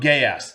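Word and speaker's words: Geass: pronounce this show code gay ass oh gay ass yes g g how is it spelled yes g e a SS GE code gay ass yes code gay ass that's how you say it yes code gay great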